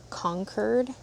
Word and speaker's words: Concord: The these are Concord grapes or I think they're actually pronounced like conquer.